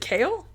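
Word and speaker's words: Cael: with names is it kale kale yeah like that c-a-i-oh like the like the veggies no it's no it's spelt c-a-e-l but it's pronounced like the veggies perfect and and luke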